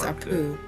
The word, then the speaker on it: Apu: You got Abu? Yes. His name's Apu. Apu. Apu. Who's Abu? You mispronouncing Apu.